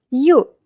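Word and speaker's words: ю: end y plus o plus o we have yu yu like the word you. yu yu famous name Yulia Yulia yu And the most important letter in Russian is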